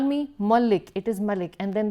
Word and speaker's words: Malik: My surname Malik is pronounced as Malik here, and when I hear that I feel uncomfortable, and I have to keep reminding them it's Punjabi Malik, it is not Bengali Malik, please don't call me Malik, it is Malik.